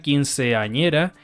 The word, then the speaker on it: quinceañera: Un ejemplo, la palabra quinceañera tiene 5 sílabas, pero generalmente se le suele pronunciar en 4.